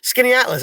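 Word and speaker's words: Skaneateles: to talk about that town you say it's pronounced skinny axis just like in able ease right so skinny atlas that's like Oh everybody will remember that well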